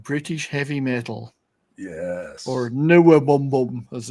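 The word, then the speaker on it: NWOBHM: Or Newabum, as it's called. I can never pronounce that acronym.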